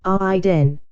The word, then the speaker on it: Aiden: their pronunciations Ray hen Aiden said with a long I sound Maeve Maxim Maxim zarius